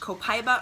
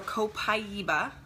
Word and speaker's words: copaiba: Now this is pronounced copaiba or copaiba, okay, however you'd like to pronounce that.